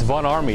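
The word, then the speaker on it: Von Ormy: No, it is not Miko. It's Von Army. It's pronounced with an A.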